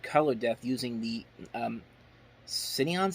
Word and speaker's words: Cineon: depth using the um cineon system I think it's how you pronounce it c-i-n-e-o-n I I believe that's it and they did that